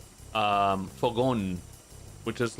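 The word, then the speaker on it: fogón: There's a saying in Spain called um fogon, which is like a grill.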